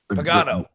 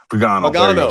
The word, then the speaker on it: Pagano: Pagano. Pagano.